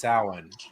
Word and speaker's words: Samhain: origin of what looks like samhain is actually pronounced samhain um depends on which side you come from